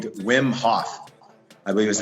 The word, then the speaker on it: Wim Hof: was his first name wim hof I believe is how you pronounce it wim so like WYM something like that so I don't know